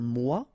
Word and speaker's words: mois: Un mois, and then moi, me. Okay, so un mois and moi.